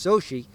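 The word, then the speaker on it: Xochitl: an oddly spelled name it's x-o-c-h-i-l-t nice mexican name pronounced so she and the last name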